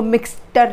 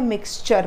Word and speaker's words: mixture: Children ये TURE इज़ चर, नॉट टर। TURE टर नहीं है, चर है, मिक्सचर, ठीक है। इसको मिक्सटर नहीं पढ़ना है, मिक्सचर पढ़ना है।